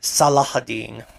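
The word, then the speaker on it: Salah ad-Din: of his name is salahudding yeah there's an H in there kind of I believe so at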